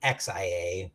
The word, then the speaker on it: Xia: This one is Zia Legends of a Drift System by It's actually Xia, but I always pronounce the X as a Z.